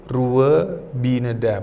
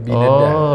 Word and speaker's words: Ruwa Bineda: Jadi PT bacanya itu Ruwa Bineda, bukan Binda tapi Bineda.